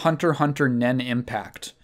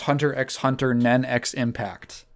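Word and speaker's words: Hunter × Hunter Nen × Impact: want to talk about Hunter Hunter nen impact alternatively pronounced Hunter x Hunter nenx impact no you do not pronounce the X's so this is the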